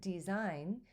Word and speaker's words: design: You notice how with design, we have not only the long E, but we also have that G is silent.